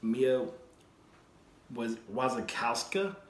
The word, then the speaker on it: Mia Wasikowska: I picked up this movie called The Double with Jesse Eisenberg and Mia Wasikowska, I believe is how you pronounce her name.